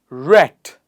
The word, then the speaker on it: wrecked: Ed one important tip this Ed here is pronounced as T so please repeat after me rect wrecked wriggle wriggle ring not